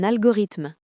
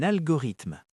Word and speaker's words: algorithme: Un algorithme. Un algorithme. Attention à la prononciation.